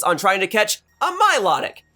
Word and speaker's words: Milotic: trying to catch a Milotic or Milo tick as I actually pronounce it for you see ever